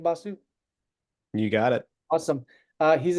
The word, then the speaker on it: Basu: Is that pronounced correct? Last name Basu?